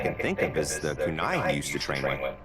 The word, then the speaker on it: kunai: The way he keeps saying kunai, like it sounds like the way he's saying it is K-O-O like dash N-A-I. That's not how it's said, my man.